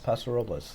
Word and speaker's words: Paso Robles: But the other one in California is, my wife's going to kill me because I can never say it right, Paso Robles? Paso Robles, yes.